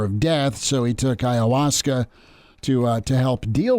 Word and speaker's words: ayahuasca: do you pronounce Ayahuasca it's like Hiawatha Ayahuasca and then what kind